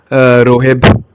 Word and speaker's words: Roheb: By the way, name is Roheb Hussain. Okay, sorry Roheb. I was pronouncing your name wrong. Roheb.